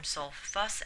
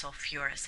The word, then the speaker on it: sulfurous: So it's not, sulfite doesn't form sulfus acid, it forms sulfurous acid.